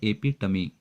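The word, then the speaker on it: epitome: एपिटमी, इसका pronunciation है एपिटमी, standard.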